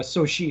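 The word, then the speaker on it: Xochitl: two i love the introduction of having uh so she her name is pronounced uh so she sushi gomez as american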